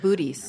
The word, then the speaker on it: Boötes: It's between the Hercules constellation and Boötes. Boötes, is that how that's pronounced? Booties.